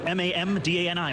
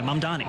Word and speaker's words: Mamdani: But to see a candidate for this same position be either unable or unwilling to say my name correctly, it's not that difficult. It's Mamdani, Mamdani, and to even name a single mosque that he would have visited over 10 years in leadership.